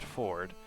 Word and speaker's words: Fjord: has a dude named fjord pronounced ford and he carries a